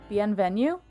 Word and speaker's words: bienvenue: That is in fact correct. Wait, actually? It means hello or good day. Bienvenue? That's actually how you say it? I'm not sure I believe. That's how you say it? Yep.